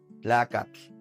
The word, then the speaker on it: tlacatl: ¿Pueden notar cómo esta pronunciación es como más como un chasquido? Hay que colocar la lengua tras nuestros dientes y hacer este sonido. Es la pronunciación de la TL.